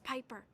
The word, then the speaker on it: Piper: By the way, the name's Piper. Rhymes with viper.